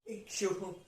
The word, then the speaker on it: इक्षुः: उसके बाद अक्षोट, अक्षोटः, अक्षोटः, इक्षुः, इक्षुः, इक्षुः, इक्षुः, इक्षुः। देखिए यहां पे ऊ है, उसके बाद तुरंत विसर्ग है, तो उह, उह, इक्षुः, इक्षुः, उह, इक्षुः, ठीक है जी, उह, इक्षुः।